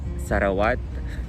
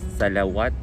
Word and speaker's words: Sarawat: the way um because in the Philippines audience or viewers actually call it sarawat but um I think the the correct pronunciation of it is salawat because it is um it has the Lo Ling is this loling but um this actually represents the letter L so yeah um yeah